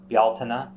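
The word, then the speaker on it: Bealtaine: b-e-l-t-a-n-e in Irish Modern Irish you'll see um bialtana which is b-e-a-l-t-a-i-n-e um you'll see it spelled without that first a you'll see it's spelled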